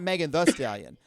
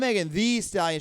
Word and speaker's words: Megan Thee Stallion: That's- First of all, I love her because she's like, I'm not Megan the Stallion. I'm Megan Thee Stallion. She adds an extra E, so you got to pronounce it like that.